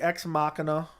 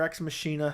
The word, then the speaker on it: Ex Machina: movies I love the movie X Machina or ex machina however you want to pronounce it do you like